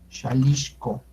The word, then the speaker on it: Xalixco: Como se podrán dar cuenta, el sonido J no existe en náhuatl, es el sonido SH, entonces la pronunciación es Xalixco, enfrente de la Arenal.